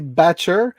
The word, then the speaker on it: Batcher: C'est Batcher, mais avec son accent anglais très prononcé, ça sonne comme Betcha.